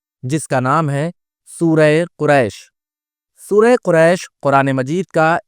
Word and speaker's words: قریش: اللہ الرحمن الرحیم۔ لِإِيلَافِ قریش، لام زیر لی، الف یا زیر ای، لام کھڑا زبر لا، فا زیر فی، لِإِيلَافِ، قاف پیش قو، را یا زبر ری، شین ساکن، قریش، لِإِيلَافِ قریش۔ دوسری آیت